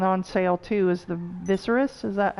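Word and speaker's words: Viseris: Viserys, that's how you say it.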